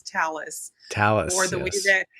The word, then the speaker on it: Thales: Well, well, this is one of many conversations that we've had, but it's talis. Talis or the way that Yeah, the way that the French people pronounce it is uh tales.